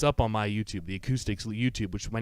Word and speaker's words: Acoupstix: on my YouTube the acoustics will YouTube which my name is up there and it's spelled properly the P is silent but you can call me coupe steaks I don't care but